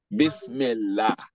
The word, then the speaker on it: Bismillah: But anytime Kesra is coming before it, is that lam is going to be pronounced la. Bismillah.